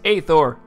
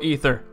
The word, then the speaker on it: Aether: playing a flash game known as aor or ether whichever pronunciation you prefer is what the game